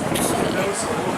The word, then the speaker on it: Cay: Key or K? It's Key. What? It's spelled K, but pronounced Key.